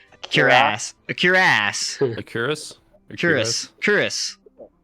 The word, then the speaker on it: cuirass: So he hurls it and it breaks on your curry ass or whatever, however the fuck you pronounce that word. Cuirass.